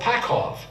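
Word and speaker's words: Pacov: our scroll came from a city called pakhov p-a-c-o-v and that's how I pronounced it so I said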